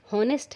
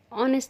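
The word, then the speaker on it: honest: हम लिखते तो हॉनेस्ट हैं लेकिन इनका उच्चारण ऑनेस्ट से किया जाता है. यहाँ एच साइलेंट है इसलिए ऑनेस्ट का फर्स्ट लेटर ओ वॉवेल है और यहाँ एन का यूज़ होगा.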